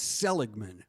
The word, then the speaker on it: Seligman: It's Seligman with a hard G.